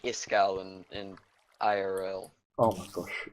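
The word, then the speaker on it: Iskall: Same as Iskal. And, yeah, but I'm less loud. I'm a less loud Iskal. Yeah, yep. His name actually is pronounced Iskal, and it means ice cold in Swedish.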